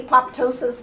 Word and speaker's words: apoptosis: way down low is apoptosis it's a Greek word the Greeks say apoptosis the rest of the world does the P is silent and call it a